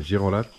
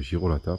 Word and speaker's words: Girolata: voyz les sanitaires de girolate Girolata et ici ils disent girolate ok bon moi je le prononce comme je sais le prononcer c'est Girolata pour moi donc ça c'est des salin